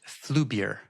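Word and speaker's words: Flyvbjerg: Yeah, that's a phrase from a Danish professor at Oxford named Bent Flubier. Awesomely Danish name. Fantastic. Yeah, I know. Obviously had to make sure I could pronounce that one.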